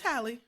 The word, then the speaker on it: Halle: of Hallie Haley Hallie how do you say that child name it's Holly Holly Bailey I always want